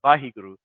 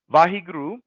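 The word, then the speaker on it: Waheguru: And so Vahiguru is consisted of four syllables. Vahiguru, a wonderful, so Vahi, a wonderful light that illuminates the darkness.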